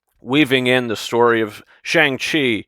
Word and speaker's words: Shang-Chi: in the story of shang chi or shang chi is how they pronounce it in the film uh how they weave